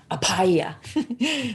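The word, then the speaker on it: Abhaya: little harder to pronounce because you put you the b forces the h so it's apaya and um this is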